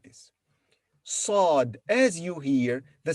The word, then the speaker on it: ص: it's written like this sod as you hear the sound of sod is similar to the sound of seeing but more emphatic and darker sod is pronounced with a full mouth this litter doesn't have